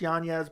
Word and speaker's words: Yanez: font versus Adrian Yanez his name is actually pronounced Yan yes but the UFC's calling